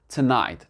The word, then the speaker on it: tonight: ce mot-là, ils se sont débarrassés du GH et tout simplement tonight, tonight. C'est pour ça que vous allez retrouver beaucoup de mots en langue anglaise, on retrouve le GH et qu'il n'est pas prononcé.